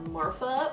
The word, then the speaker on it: Marfa: lipstick in the colour Marfa which sounds like you're pronouncing 'martha wrong but it's not it's like after the town Marfa Texas because route 66 and